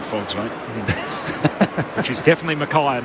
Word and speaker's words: Mackay: Which is definitely Mackay and not McKay as he kicks towards the hot spot.